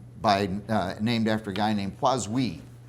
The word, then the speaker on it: Poiseuille: And it's because of the law of physics, named after a guy named Poiseuille. It's spelled with a whole lot of E's and I's and L's, and people say Poiseuilles.